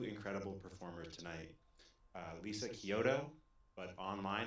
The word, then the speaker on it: Chiodo: Uh Lisa Kyoto, but mine. It's CH. You spell with a ch but pronounced Kyoto.